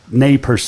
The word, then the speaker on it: Nez Perce: I was a Chief Joseph fan from the Nez Perce, or Nez Perce is actually the correct pronunciation.